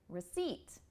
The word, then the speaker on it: receipt: for effect so the first s syllable becomes what we call the schah sound which is uh it's not receip again it's receip receip R do you hear the difference R not re it's spelled re e but we don't